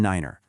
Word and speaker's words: niner: Adding that extra syllable just makes it totally distinct. So, there you have it. Tree, five, and niner.